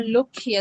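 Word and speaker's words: লক্ষ্মী: are portrayed for example lakshmi or look here as it is pronounced in bengali is the goddess of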